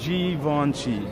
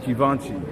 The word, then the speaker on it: Givenchy: It's pronounced Givenchy. Givenchy. Okay. Cool. Givenchy.